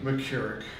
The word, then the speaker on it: McCarrick: the matter of fact the the Cardinal McCarrick pronounce his name mckarrick he was one of his victims it was